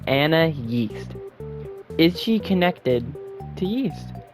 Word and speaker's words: Anais: When you look at Anais's name, it's spelled A-N-A-I-S. This one makes her called Anna Yeast.